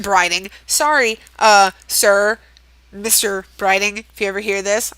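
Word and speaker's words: Brighting: occurs to me that i said his gosh dang name wrong um in part one like i said what did i say like kevin brighton it's kevin brining sorry uh sir mr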